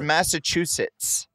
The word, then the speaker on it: Massachusetts: two c there's two there's two T's at the end of this it's Massachusetts yeah with the T oh dude I've been